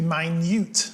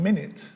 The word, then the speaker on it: minute: been all almost always wrongly pronounced in that it was originally meant to be mine mute as in small rather than minute as in 60 seconds anyway I'm sure you